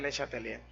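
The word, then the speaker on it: Le Chatelier: nombre de principio de se escribe de chátelier pero se pronuncia les atendía francés principio de leche atelier si un sistema en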